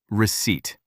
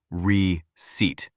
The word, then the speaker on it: receipt: receipt receipt This word can be difficult. The letter P is silent. We do not say re ceipt. We say, receipt.